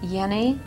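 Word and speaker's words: Jenny: all right good the the name is actually hans yenni i was close i almost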